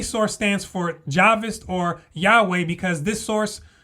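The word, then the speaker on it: Jahwist: And it's Javis because this is how the Germans pronounce it and they were the ones who made this discovery.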